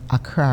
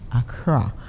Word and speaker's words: Accra: You know, and I love the way you pronounced Accra, right? Not Accra, okay, Accra.